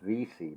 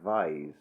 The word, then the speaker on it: Vyse: But the surname Vyse is how it's spelt. It's, I think, as far as I know, it's pronounced Visi, but it looks like Vise.